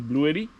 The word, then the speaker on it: Bluetti: Donc, après plusieurs recherches, je suis allé avec la marque Blue Yeti, si on le prononce en français, mais c'est Blue Yeti, en pensant que je faisais une excellente affaire, les reviews étaient bonnes et ainsi de suite.